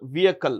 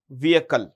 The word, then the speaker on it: vehicle: vehicle unmanned aial vehicle remember the H in vehicle is silent so it's pronounced vehicle what is it vehicle so unmanned aerial vehicle